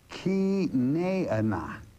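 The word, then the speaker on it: Chenaanah: And Zedekiah being the justice of Yah, the son of, now I want you to listen real carefully to this pronunciation. The son of Kenaanah. Sounds a lot like Kenite, doesn't it?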